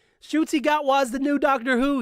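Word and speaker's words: Ncuti Gatwa: How to pronounce okay. All right, so let's see what YouTube has to say. A Rwandan actor, Shuti Gatwa. Shuti Gatwa. Shuti Gatwa is the new Doctor Who, y'all.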